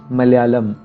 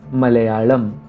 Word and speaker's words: Malayalam: In fact, Malayalam is not pronounced Malayalam. The second L is different from the first L. The second L is L. And so the correct pronunciation is Malayalam.